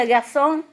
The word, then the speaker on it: garçon: And the garçon mean boy, no?